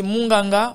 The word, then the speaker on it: monganga: Vous avez également le terme monganga qui signifie médecin, qui peut être également prononcé munganga en fonction des régions dans lesquelles vous vous situez dans les deux Congos,